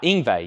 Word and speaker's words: Yngwie: Don't pronounce the Y. Yngwie, yes.